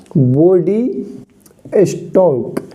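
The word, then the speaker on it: body stalk: स्टॉक क्या बोलते हैं बॉडी स्टॉक एल साइलेंट रहता है इसमें एल साइलेंट है बॉडी स्टॉक इसको कहते हैं यानी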